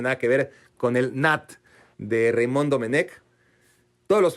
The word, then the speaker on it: Nantes: Es que Nantes se pronuncia Nat, pero si dices Nat, pues no te va a entender nadie.